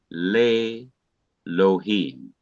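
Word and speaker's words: לֵאלֹהִים: But when le is put before Elohim, the E under the Aleph, which is this one, becomes silent and drops out. So the Aleph is not pronounced ordinarily, and the E drops out. The E is removed, it disappears, just leaving the Aleph. And the simple Shawa under the Lameth becomes long E, producing Le Lohim, meaning to God.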